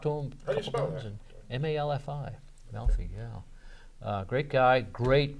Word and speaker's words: Malfi: I think it's Malfi. Yeah. Great guy. I've talked to him a couple times. M-A-L-F-I.